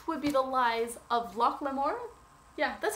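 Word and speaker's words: Locke Lamora: That would be The Lies of Loch Lamore.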